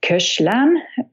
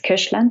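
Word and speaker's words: Koechlin: suet and there is cash lon I'm not very sure how to pronounce this I hope it's close not coastland cept it it includes saxophone also this Koshland piece and dandy chanson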